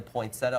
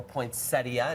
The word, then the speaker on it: poinsettia: Indoor potted plant, the poinsettia or poinsettia. It doesn't matter how you say it.